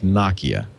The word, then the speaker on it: Nokia: it's pronounced noia Steve balber has confirmed it's Nakia it used to be pronouncing it yet a Third Way heard before